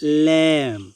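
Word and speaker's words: lamb: 2 নম্বরে ল্যাম, এখানেও বি এর উচ্চারণ হয়নি, ল্যাম অর্থ হচ্ছে বেড়া।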